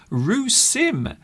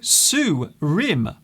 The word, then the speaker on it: Soo Rim: Rue Sim. Hello, Sue Rim. Sorry, I got your name wrong. Sue Rim.